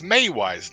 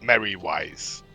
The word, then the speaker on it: Mary Wiseman: Yeah, it's May wise, not Mary wise.